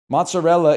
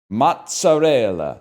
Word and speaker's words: mozzarella: Mozzarella is pronounced mozzarella, not mozzarell.